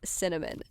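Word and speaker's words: Synamin: S Y N A M I N pronounced Cinnamon.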